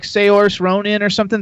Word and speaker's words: Saoirse: I don't know how to pronounce her name. It's like Saoirse Ronan or something. Saoirse.